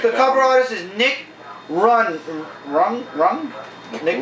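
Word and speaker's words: Runge: The artist, the cover artist is Nick Rung. Nick Rung. Yeah, the E is silent.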